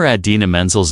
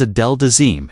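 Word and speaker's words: Idina Menzel: memorial came during the 2014 Oscars when Travolta mispronounced singer Adena Mensel's name as Adel Dazim in front of millions.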